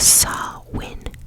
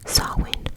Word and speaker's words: Samhain: Okay, it was the Gaelic word, and it's pronounced Samhain. Samhain.